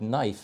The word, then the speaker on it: knife: I come here and I see things like knife and I'm going wait a minute what happened to yeah yeah what happened to the K so what I would